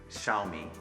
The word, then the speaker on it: Xiaomi: little me means rights they're both third tone which is a long tone in Chinese so we basically say